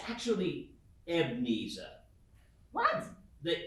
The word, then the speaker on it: Ebenezer: your words with me ebenezer ask me who i was it's actually ebnesa what the e is silent the e is silent more specifically the second e it's uh it's pronounced evnisa like uh sneeza and